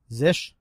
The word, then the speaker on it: zsh: It's Zish, ZSH.